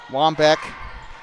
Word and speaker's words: Wambeke: Shelby Wambeke, or Wambeck, whatever. I don't know how you pronounce it. I'm sorry. Wambeck. The PA announcer pronounced it Wambeck, so I'm just going to say that.